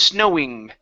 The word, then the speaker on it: snowing: Okay, so it's snowy, which is quick, snowy. The other one is snowing. So I elongate the E sound a little bit, and then I also pronounce a G at the end.